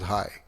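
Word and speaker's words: hej: In Denmark, they say hi to say hello, and it's spelled as H-E-J. It's pronounced as hi, and I hope I'm getting that right.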